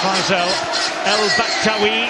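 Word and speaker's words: Faissal El Bakhtaoui: And Faisal El Baktawi, that is his preferred pronunciation, by the way.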